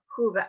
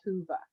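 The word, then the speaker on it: Whova: because every registrant has to go through the hoover app but can i access the hoover app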